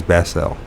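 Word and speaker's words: Saint-Basile: Ballis, is that how you pronounce it? Or Basel? It is Basel.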